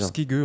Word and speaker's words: Skygge: Alors toi, ton pseudo c'est Skygy, je prononce bien. Oui, ou Ski. Skig. Skige ou Skige. Skige en fait.